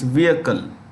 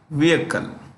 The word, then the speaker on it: vehicle: to everything communication see when we pronounce this word the H is silent it's vehicle what is it vehicle so these three entities